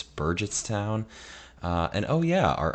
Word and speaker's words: Burgettstown: with me was actually take two I was pronouncing the town at Star Lake wrong I thought it was Burgettstown heart G it's Burgess town uh and oh yeah our Artisan residence had